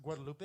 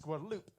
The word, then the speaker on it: Guadalupe: but I had a friend that he would get pissed off every time I would pronounce it Guadalupe. It was like, no, it's Guadalupe.